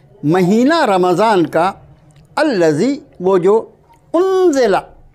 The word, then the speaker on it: رمضان: رمضان۔ اور ہم لوگ کیا بولتے ہیں؟ میم کو جزم کے ساتھ بولتے ہیں، رمضان رمضان رمضان۔ تو اس کو درست کر لیجئے، شہر و رمضان، مہینہ رمضان کا، الذی وہ جو،